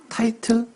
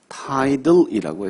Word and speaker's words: tidal: 타이틀? 제 발음이 타이틀로 들렸나요? 저는 분명히 tidal이라고 했습니다.